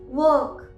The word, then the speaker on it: work: इसी तरह से वर्क, WORK, लास्ट में क का साउंड है, आर के बाद क का साउंड है जो कि एक कॉन्सोनेंट साउंड है, इसीलिए हम आर को प्रोनाउंस नहीं करेंगे।